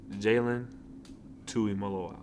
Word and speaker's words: Jalen Tuimoloau: Full name is Jalen Tuimoloau.